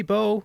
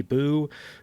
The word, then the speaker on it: Bow: Uh but Lady Bow, she's here to join the team and also here to make me mispronounce her name constantly as Lady Boo.